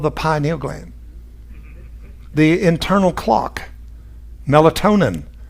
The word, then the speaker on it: pineal: are all in the pineal or penile however you want to pronounce it both ways are correct actually i prefer pineal uh goes off and